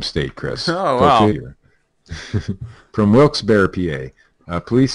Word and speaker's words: Wilkes-Barre: Authorities say Jacqueline Blake confessed to officers who responded to her Wilkes-Barre home, or it's actually Wilkes-Barre, I believe, because that's the phonetic pronunciation they're showing here.